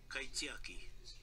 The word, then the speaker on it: kaitiaki: Kaitiaki.